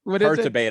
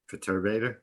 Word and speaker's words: Perturbator: talking about and it's definitely not how he's pronouncing probably not but i just love it yeah earth debate or however you say what is it perturbator that's what it is i id i knew